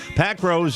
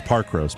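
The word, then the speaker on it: Parkrose: Pack Rose in Portland, Oregon, too. They don't say it like that. It's Park Rose.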